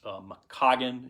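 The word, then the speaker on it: McKaughan: And I think I'm pronouncing that correctly. I've also seen it pronounced McCaughan. It's MC, capital K, A-U-G-H-A-N. But I've talked to some people in Carolina and in maybe some debate on how to pronounce that.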